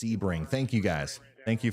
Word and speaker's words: Sebring: to ramp up there in Port Charlotte it's pronounced Sebring thank you guys thank you for helping me